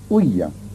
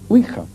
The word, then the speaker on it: ouija: fenómenos, y sobre todo con la huilla, que es así como se pronuncia. Generalmente se dice ouija, pero la verdad es que oui es sí en francés y así se pronuncia, y ja es ya, que es sí en alemán.